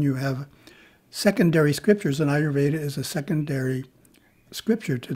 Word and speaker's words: Ayurveda: goes so we're talking ayurveda ayurveda yeah yes yes i didn't pronounce it right that's all right right for years well it's got the word veda in it so that gives us a clue right right right right